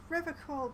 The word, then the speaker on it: Revachol: You said Revachol different from how I or the games say it. I like to pronounce it the hard way, the old way, the Vespertine way.